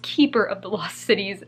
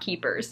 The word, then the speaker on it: Keeper of the Lost Cities: times while editing that it is Keeper of the Lost Cities, not Keepers.